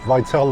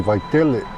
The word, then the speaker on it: Vaitele: So turning right onto Vaitele Street. Vaitele according to Siri over here. But it should be Vaitele. Pronouncing it like it's clientele. Vaitele.